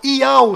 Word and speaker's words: יהו: Aqui você verá o nome do Criador, Iau, sendo pronunciado de forma correta.